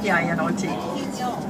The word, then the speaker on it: Pinot: The classic white varieties are Riesling, Sylvaner, Müller-Thurgau, also called Rivener, Graubenberger, Pinot, how do you say that? P-I-N-O-T. Pinot is French.